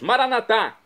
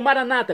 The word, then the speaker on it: maranatá: E agora eu clamo do aramaico, o dialeto de Jesus, maranatá, como dizemos nós católicos, ou maranata, como dizem nossos irmãos separados, os evangélicos ou protestantes. Não importa a pronúncia, o significado é o mesmo.